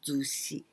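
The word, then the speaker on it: 寿司: Well, this is the kanji of sushi that you say Japanese sushi, right? This is sushi. And here we pronounce zushi.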